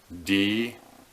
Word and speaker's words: Dieffenbachia: It's pronounced Dieffenbachia.